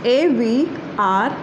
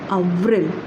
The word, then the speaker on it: avril: And the April is A-V-R-I-L, right? And the pronunciation of April is Avril, right?